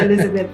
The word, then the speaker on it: Elisabeth: I'm pronouncing Elisabeth so people know it's with an S. But it's still pronounced Elizabeth.